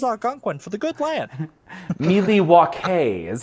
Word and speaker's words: Milwaukee: Milwaukee is how that's pronounced.